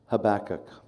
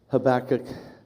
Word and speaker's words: Habakkuk: writings of the prophet habach habach there's lots of ways we might pronounce it it's probably better pronounced habac with the emphasis at the beginning but we so commonly